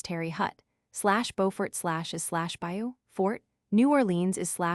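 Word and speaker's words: Terre Haute: Thus SL Desmo SL is SL Demo SL Tear Oat is Terry Hut SLBurtfort is SLB fort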